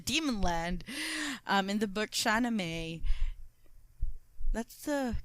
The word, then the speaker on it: Shahnameh: So again, speaking of the demon land, in the book Shahnameh, that's the correct pronunciation. Shahnameh.